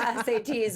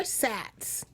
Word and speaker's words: SATs: still knew what the SATs were yeah I didn't pronounce it sat hey they are SATs okay well fine I